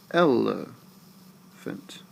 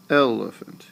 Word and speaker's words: elephant: Look at what you're stressing. Elephant. Elephant. Your voice is going down as you say that word. It starts high and it goes down the last 2 syllables. So you stress, unstress, unstress.